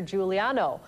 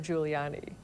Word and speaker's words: Giuliani: jackson mispronounced his name he referred to him as mayor giuliano instead of giuliani e oh whatever